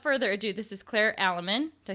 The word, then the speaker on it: Aleman: me so without further Ado this is Claire alaman did I say it right you did you